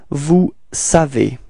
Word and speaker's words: vous savez: Alright, so now vous, and then we get this vous savez. Repeat. Vous savez. Okay, keep in mind that this ending EZ, okay, is pronounced like E.